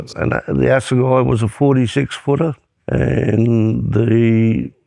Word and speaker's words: Assegai: Assegai is a funny name. I have to spell it 40 times a day. People get the pronunciation wrong most times. What do they say mostly? Asagi it or you name it.